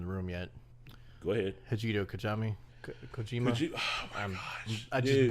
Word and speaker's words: Hideo Kojima: Hideo Kojima. Oh my gosh, I just butchered that name. Yeah. Butchered it. Hideo Kojima, Hideo Kojima.